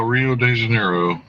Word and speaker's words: Rio de Janeiro: ivory inlay too uh Rio de Janeiro where the r is pronounced with an H sound just to make you